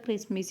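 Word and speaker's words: Xmas: क्रिसमस के लिए हम क्या वर्ड यूज़, एब्रीवेशन यूज़ करते हैं, एक्समास, बट इट is usually pronounced एज द क्रिसमस। इसको हम क्रिसमस ही बोलते हैं और एक्समास बोलते हैं।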